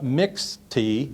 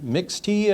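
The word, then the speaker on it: Mixte: actually the loner Porsche mix tee mix tee I believe is pronounced stands for mixed okay so basically a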